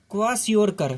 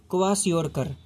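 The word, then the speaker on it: Kwashiorkor: इसको हम कैसे प्रोनाउंस करेंगे? क्वाशियोरकर, क्या बोलेंगे? क्वाशियोरकर।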